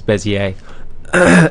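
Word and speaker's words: Bézier: i e r but I believe the pronunciation it's probably French is bezier.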